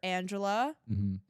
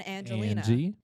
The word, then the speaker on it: Angelina: roster the first time they somehow read my name wrong every time it's either Angela Angelica it's just everything other than Angelina no not Angie but